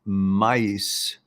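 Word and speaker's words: maïs: you're all good and mace is pronounced mice in french which means corn homais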